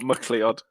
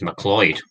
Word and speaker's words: MacLeod: I got from Kevin MacLeod I'm glad you pronounce his name properly well not muckley odd yeah like you're idiots but that's his name I always know he's mccloyd hello and welcome